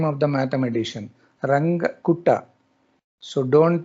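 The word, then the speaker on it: Runge: Number five, ranga. R U N G E. It's the name of the mathematician. Ranga. So don't pronunciate in a different manner.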